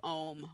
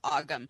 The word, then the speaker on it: ogham: you if you can do om which is sometimes mispronounced ogham because there's a whole